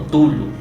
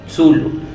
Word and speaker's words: Cthulhu: del Kraken proviene de la idea del mismo Cthulhu o Tulu, Zulu. Nunca hay una pronunciación exacta, simplemente hay variaciones, pero yo normalmente la que uso es Cthulhu, porque no sé, siempre es como yo lo